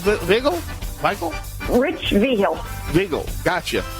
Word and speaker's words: Vigil: uh uh uh Rita Hyde say his name wiggle Michael Rich vigil wiggle gotcha all right we're